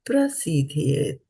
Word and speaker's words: prasidhyet: And na pra and not par. Na prasidhyet akarmaṇaḥ.